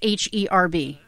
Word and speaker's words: herb: that's that's that's oh how do you say uh the word h-e-r-b she has this idea but i say things strange h-e-r-what b yeah oh do i say herb no that's a british thing i say herb although